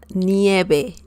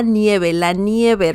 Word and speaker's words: nieve: V in Spanish is like B as in bell, okay? La nieve.